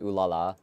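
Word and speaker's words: Ulala: Yeah, the main character of Space Channel 5 is pronounced ooh la la.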